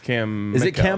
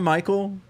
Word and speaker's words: Mickell: Uh Cam Mickell and someone said we're saying Cam Mickell's name wrong. So Cam Mickell. Michael? Or I think it would be Cam Mickell. Not Cam Michael.